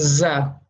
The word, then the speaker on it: ز: This is pronounced as Za. And Za is a light letter, right?